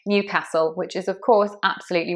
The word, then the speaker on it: Newcastle: Newcastle, Newcastle, stressed on the new, Newcastle.